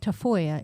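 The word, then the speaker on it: Tafalla: You know, the the town in Spain is Tafoya is spelled T A F A L L A. But I don't know who decided double L's are usually a Y sound.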